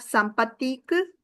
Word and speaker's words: sympathique: Then we have sympathique, sympathique, sympathique, sympathique. Pronunciation is same for all of them. But S at the end of the plural versions.